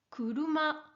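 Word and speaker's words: 車: Kuruma. Kuruma. Vas-y, répète après moi. Kuruma. Bien. Alors, comme tu peux le voir, Kuruma s'écrit en kanji.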